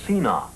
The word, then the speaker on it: scena: call in opera a scena. Well, that's, or a scena, I suppose, is the proper pronunciation.